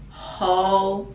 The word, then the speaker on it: whole: in whole self in whole self out so whole it's a /h/ pronunciation the w is silent whole self in whole